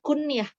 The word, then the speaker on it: kunyah: dari umur Roman nah kunnya ini bukan kunyah ya bacanya kuniah itu semacam nama alias